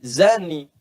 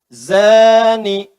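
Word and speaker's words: زاني: Nah, sekarang persoalannya zani itu pezina laki-laki, zani. Zani. Pezina laki-laki. Oh, hati-hati, hati-hati. Zani, za, bukan za. Ada da, ada za, ada za. Bedakan.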